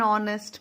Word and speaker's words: honest: An honor, an hour, an honest man. Here in these words, H is silent.